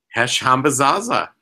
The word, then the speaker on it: Hesh Hambazaza: among other things uh welcome to the show hash hamba Zaza I pronounced that right correct yeah you got it